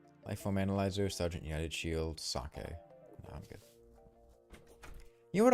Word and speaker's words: sake: Sake. I'm good. You know what always annoys me? Um, when people pronounce sake as like saki, always just always just